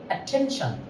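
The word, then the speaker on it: attention: তাহলে যেহেতু এখানে স্ট্রেস হবে তাহলে এটা হবে অ্যাটেনশন, অ্যাটেনশন, অ্যাটেনশন। যেহেতু টির ওখানে একটা স্ট্রেস আছে অ্যাটেনশন, তাহলে আমরা বলবো অ্যাটেনশন, appoint, compose, control, অ্যাটেনশন।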